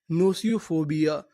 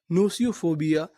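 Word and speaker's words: gnosiophobia: यानी यहां पर हमें जी का उच्चारण नहीं करना।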